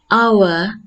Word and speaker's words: hour: let's begin with h on a hour because it's not pronouncing h it gives verbal sounds let's move to the